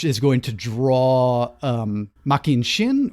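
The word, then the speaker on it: Machin Shin: going to draw um making shin or which the show is pronouncing machin chin the the black wind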